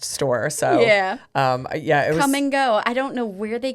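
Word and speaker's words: Kum & Go: That's called Come and Go. But it's spelled K-U-M.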